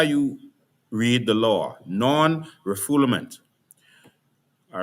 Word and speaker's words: non-refoulement: to a particular definition, non-refoulement. And this is how you read the law, non-refoulement. All right? Non-refoulement is the actual pronunciation. It's a French word, non-refoulement.